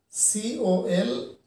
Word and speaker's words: Colonel: Next one, that is number four, here you can see C-O-L-O-N-E-L. C-O-L-O-N-E-L. Colonel. Colonel. We have two syllables that you can see.